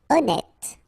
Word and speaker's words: honnête: Honnête. So remember, H doesn't exist.